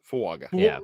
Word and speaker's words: Fuaga: Fuaga.